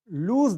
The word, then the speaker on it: lose: तो जो उसका उच्चारण होता है वो ज में होता है, लूज, है ना, लॉस नहीं, लॉस ये होता है।